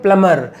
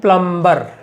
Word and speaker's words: plumber: से, इसको कहते हैं प्लमर, PLUMBER। ध्यान देने की बात यह है गाइज, इसमें बी साइलेंट है, तो इट इज कॉल्ड प्लमर, यानी एम के बाद सीधे आर बोलना है, बी इज साइलेंट।